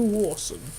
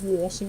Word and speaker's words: Rawson: Andrew Rawson. Not Rawson, it's Rawson.